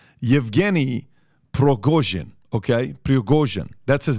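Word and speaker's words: Yevgeny Prigozhin: is a guy in him I want to pronounce this correctly evgeny progojin okay that's his name he's a billionaire it's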